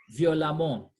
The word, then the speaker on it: violemment: Note this word, this I've said, that the EWMENT or AWMENT are pronounced the same way. So we say amant, amant. So we say violent, violemment.